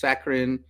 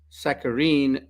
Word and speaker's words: saccharin: This word, oddly enough, is pronounced three different ways: saccharin, saccharine, and saccharine. I prefer saccharin, it's easier to pronounce it that way.